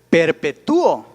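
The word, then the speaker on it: perpetúo: sílaba que antes era si fuera perpetuo sería pero una p 2 tubo pero es perpetuo suena más fuerte la uv lleva acento escrito ahí hay una diptongo esa sílaba se separa y ahora perpetuo no tiene tres tiene cuatro sílabas estamos de acuerdo dudas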